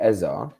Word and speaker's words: Eze: That's a fair take, because in my opinion, if we don't get Eze, right? Yes, that's how you say his name, Eze. It's not Eze, you know what I mean?